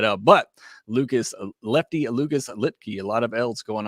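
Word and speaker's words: Luetge: picking me up the slack there with a lit key that's not what I went for I'm searching for the pronunciation guide over here uh so I appreciate you picking that up but Lucas Lefty Lucas lipkey a lot of elves going on there but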